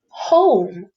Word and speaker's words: home: Here I see the word home. O, consonant, silent E. So it's making the long O sound.